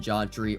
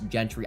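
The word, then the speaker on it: Jeanty: but I want to pick up asht and jry or Gentry sorry I mispronounced it I'm sorry Boise State fans Gentry I am friends with a lot of Boise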